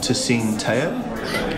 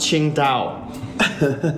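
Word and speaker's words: Tsingtao: Hey, would you like a Tsing Tao? Dude, it's pronounced Qing Dao.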